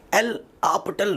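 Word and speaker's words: L'Hôpital: लिखते हैं DL हॉस्पिटल rule, pronounce करते हैं एल हॉस्पिटल रूल, ठीक है। ऐसा कुछ अजीब प्रोनाउंसिएशन है।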